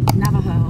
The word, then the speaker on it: Navajo: You are now entering, how do you say that, Navajo? Navajo.